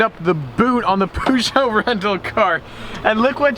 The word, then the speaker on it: Peugeot: Sadly and unfortunately, the Peugeot 308, we have to return it. I'm sorry, I don't know how to pronounce. I say Peugeot, it's actually Peugeot.